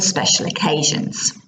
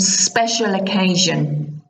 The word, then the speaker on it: special occasion: It means, do you wear special clothes for special occasions? Yeah, just look at the pronunciation of special occasion. Special occasion, there's lots of zh sounds.